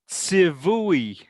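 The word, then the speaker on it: צִוּוּי: I'll tell you, that's pronounced. Oh, So this is Tzivui.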